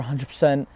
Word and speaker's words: X: the iPhone X exactly the X is pronounced the 10 man mister 10 okay